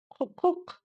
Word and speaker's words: құқық: И уже, исходя из этого, произносим нечто среднее между буквами и и. Әкімшілік, әкімшілік, әкімшілік. Погнали дальше слово құқық, құқық, құқық.